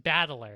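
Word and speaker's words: 戦人: But it's pronounced Battler, and so all the rest of his family is also like this.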